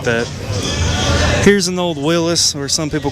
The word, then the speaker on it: Willys: Willis was who founded Willis Overland. And um, his name was actually pronounced Willis.